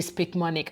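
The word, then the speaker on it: Picmonic: you can use throughout your nursing school a speak manic app now this is called this is spelled p-i-c-m-o-n-i-c uh this app honestly especially if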